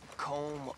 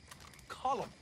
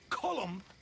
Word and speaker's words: Colm: not killing me let me tell you old comb oh Driscoll he's a rotten fella not you as well it's not cold calm we say column well uh he likes comb he's American boy's